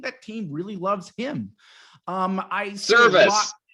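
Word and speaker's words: Servais: Cervea seems to really, really love this team, and I think that team really loves him. Service. His name is Service. I keep saying it wrong.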